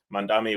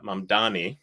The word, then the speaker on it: Mamdani: One of the things that I thought was awesome about their commonality was Mandami was uh was uh Mandani, excuse me, I said it wrong, was uh speaking to voters in Queens in particular.